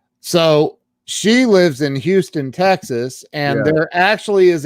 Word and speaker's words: Houston: the sign he's like it's not houston it's houston uh oh well you